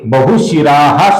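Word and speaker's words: बहुशिराः: आगे बहुशिराह शब्द है दोस्तों। यहां पर विसर्ग है। किंतु आगे विसर्ग के आगे मृदु व्यंजन है ब। इसकी वजह से इस विसर्ग का लोप होता है दोस्तों। मतलब विसर्ग अदृश्य हो जाता है। इसका उच्चारण हम नहीं करते।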